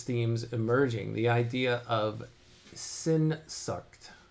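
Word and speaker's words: Sehnsucht: The word is pronounced as senshuck.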